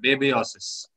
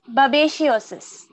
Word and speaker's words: babesiosis: disease, a blood disease, lion blood disease called babesiosis. About 24 lions have died. Yeah. Yeah. How do I pronounce that? Sorry. Babesiosis.